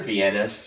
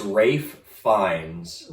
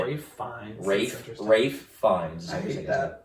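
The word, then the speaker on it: Ralph Fiennes: Voldemort's actor's name wrong viennas that's what I've been saying this is when the reality it is Rafe finds even though there's an L in it Rafe fines yeah but he kills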